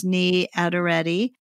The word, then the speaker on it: Niyi Adereti: I'll put all of this in the show notes so you can look it up, but it's Niyi Adereti. And just look in the show notes for how that's spelled.